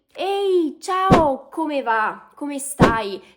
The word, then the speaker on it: ehi: there are other ways such as A, like written literally E-I, hey in an English way, because in Italian we use lots of English words. They're both pronounced like A. Ehi, ciao, come va?